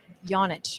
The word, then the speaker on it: Janic: Janic would be the Croatian way to say it, but my whole life everyone just says Janic because that's the American way to say it.